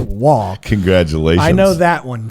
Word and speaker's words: Roy: That's that's the one that looks like Roy and it's pronounced Wah.